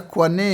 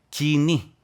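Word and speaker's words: κοινή: O grego popular, mas como se pronuncia koiné em grego? Aqui mais pronunciamos koiné. Koiné. Né? Koiné. É a língua grega, dialeto é koiné. E a pronúncia em grego é kini.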